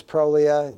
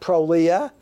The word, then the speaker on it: Prolia: mm you know is Prolia both countries not Prolia don't say Prolia it's Prolia and that's true it's Prolia don't say Prolia raloxifene